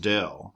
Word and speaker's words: del: it is looks like upside down Delta it's pronounced Dell it's not a real letter or anything it's